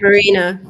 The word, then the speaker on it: Maryna: Marina.